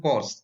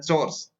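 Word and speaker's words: chores: Hold कोर्स, house hold कोर्स, तो इसको बहुत सारे लोग सॉरी, इसका उच्चारण जो होता है चोर्स, हाउस होल्ड चोर्स, तो बहुत सारे लोग इसका उच्चारण कोर्स बोलते हैं, जो कि गलत है।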